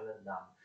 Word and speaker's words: Verdun: Allora, la Francia ottiene i vescovati di Metz, Toul e Verdun, che si scrive Verdun, ma si pronuncia Verdun. Metz, Toul e Verdun, in realtà già li aveva, ma vengono confermati alla Francia, ma anche una buona parte dell'Alsazia, d'accordo?